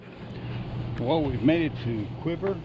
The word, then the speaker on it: Cuivre: we've made it to quiver river I think that's the way it's pronounced State Park it's a